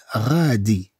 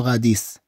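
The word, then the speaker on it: radis: ثم عندنا لو غادي. لو غادي. لا نتكلم عن لو غاديس. هنا ما عندناش لو غاديس. طبعا هذا اسم مرة أخرى. لا تنطق.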